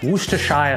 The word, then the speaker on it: Worcestershire: Then we've got the elusive and difficult to pronounce Worcestershire sauce.